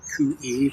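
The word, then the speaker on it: cuy: C-U-Y pronounced Coo-E means guinea pig in multiple places.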